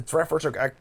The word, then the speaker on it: Treffers: The Treffers are how they say it in Dutch.